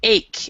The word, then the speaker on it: ache: ache an ear ache but it's ache instead of h it looks like so the ch is a is a hard class sound okay and then also